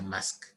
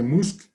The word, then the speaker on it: Musk: Alguien mencionaba a don Elon se pronuncia Musk y se pronuncia Musk. Se escribe Musk y se pronuncia Musk.